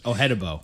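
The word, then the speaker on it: Odenigbo: Ohedibo.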